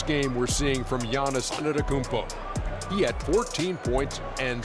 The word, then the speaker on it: Antetokounmpo: A tremendous game we're seeing from Giannis Antetokounmpo.